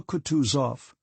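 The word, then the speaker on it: Kutuzov: Prince said Anna pavlovna General katusov said bokonsky speaking French and stressing the last syllable of the general's name like a Frenchman has been pleased to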